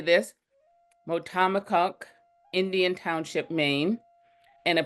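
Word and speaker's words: Motahkomikuk: He is a multi-award-winning museum professional, born and raised in, now he just taught me how to say this, Motamokuk, Indian Township, Maine, and a proud citizen of the Passamaquoddy tribe at Indian Township.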